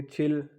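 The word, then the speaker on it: 칠: उसके बाद है जी 70, 70 को फिर हम कैसे लिखेंगे, छिल, छिल का मतलब 7 और शिप का मतलब 10, यानी कि 7 10 होंगे तो ये 70 बन गया।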